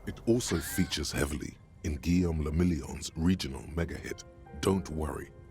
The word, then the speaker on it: Guillaume le Million: Guillaume le Million. Okay. If it doesn't rhyme, you're not pronouncing it right. Guillaume le Million.